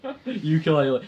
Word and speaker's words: Yooka-Laylee: And I actually thought you were about a ukulele, like a little guitar thing. Yooka-Laylee. It's spelled YOOKA-LAYLEEA.